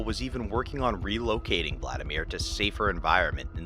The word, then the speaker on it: Hvladimir: many but not me did any of you as you heard me say Vladimir assume that there was a silent h because there is so